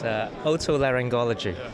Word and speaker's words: otolaryngology: now by 3 doctors, and they're going to pronounce the name properly for me, because what is it called, your field? It's otolaryngology.